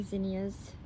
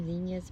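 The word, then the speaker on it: zinnias: And then of course my my zenyas. I pronounce them zenyas, but I guess it's zenyas.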